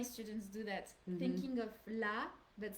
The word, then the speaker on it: la: Okay, and because if you say le, like pronouncing the A like an English A or something like that, I would understand LES, which is the plural one.